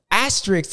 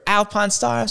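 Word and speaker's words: Alpinestars: out front and then Eli in the asterisks or Alpine Stars sorry people I keep saying it wrong but just habits of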